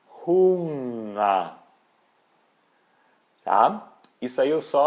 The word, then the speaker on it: Hunger: Por exemplo, o NG em alemão, a gente não pronuncia esse G.